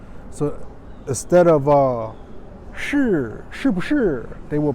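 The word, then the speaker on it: 是: So instead of shi, shi bu shi, they will pronounce si, si bu si, si bu si.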